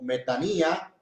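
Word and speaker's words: μετάνοια: Inclusive la palabra arrepentimiento, hemos dicho, viene del griego que es metanoía. Bueno, así se escribe. Sin embargo, la pronuncian como metanía y quiere decir, viene de dos raíces etimológicas.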